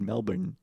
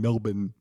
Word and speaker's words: Melbourne: you enunciate the in Melbourne because I think people over pronunciate pronounce it you think over people over pronunciate the N Melbourne yeah the lack of the r just like when NFL